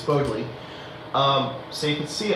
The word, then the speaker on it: Bodleian: Um I started covering a little bit about the Bodley Club and I've mispronounced it saying it was Bodley, it's Bodleian.